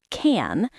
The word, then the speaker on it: can: The word can is pronounced quickly.